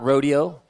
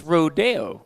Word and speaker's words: Rodeo: dude components rodeo california it's not rodeo it's rodeo okay oh yeah i gotta